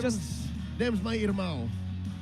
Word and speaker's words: irmão: It's just Them's my irmão. how do you say that? Irmão. Irmão. It's Portuguese for brother.